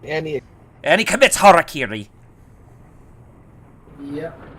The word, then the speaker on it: harakiri: he and he commits harakiri yeah at least he pronounced it right I've seen people say Harry Caray I'm not even close